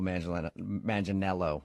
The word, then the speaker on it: Manganiello: Because we talked to him, and he told us that a lot of people say he looks like Joe Manganiello, right?